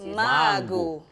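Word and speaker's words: Mangu: So how do you spell it? It's just the mango. M-A-N-G-U. G-U, yeah. Mango. The only thing that's changed is the O from the end.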